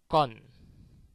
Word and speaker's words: con: I don't know if you see the difference between the first and the second one. The first one was cône, and the second one, which had two N's, was con.